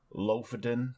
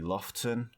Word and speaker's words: Lofoten: It's spelled Lofoten, but it's actually Lofton.